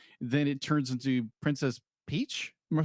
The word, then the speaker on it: Peach: It's got this they're gonna be like, it's Mario going on his revenge quest, and then it turns into Princess Peach.